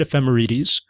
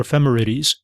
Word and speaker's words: ephemerides: But also the reason why I think I'm pronouncing it right is that the word ephemeides comes from Greek. Its etmology is Greek and it's very close to that word ephemeral.